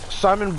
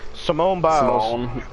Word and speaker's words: Simone Biles: Simone Biles. Oh, I'm sorry. I did not mean to mispronounce her name like that. I said Simon too. Simone Biles.